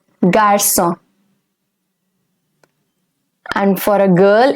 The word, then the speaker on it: garçon: For a boy, it's garçon. The C over here will have a soft sound. It is garçon.